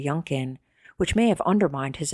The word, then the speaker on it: Yunkin: question during his testimony he repeatedly mispronounced Lawrence's name referring to him as Mr lumpin instead of Mr yunin which may have undermined